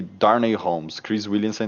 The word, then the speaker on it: Holmes: Darnay Darnay Holmes. Tipo Sherlock Holmes.